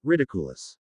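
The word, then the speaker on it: Riddikulus: The word sounded odd, like someone trying to turn an English word into Latin.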